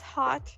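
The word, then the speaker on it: Haute: hot yeah like aw no it's like h-a-u-t-e with a dash on top of it out but but no one knows how to pronounce it so she's like call me hot as long as yeah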